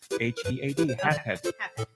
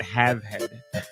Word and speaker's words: Halfhead: Halfhead. Halfhead. Not Have Head.